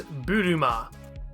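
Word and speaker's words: ブルマ: right so this character her name is buruma this is one of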